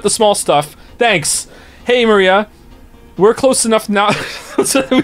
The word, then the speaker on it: Maria: she's important that's fantastic it's pronounced Maria the third character looks like a cross which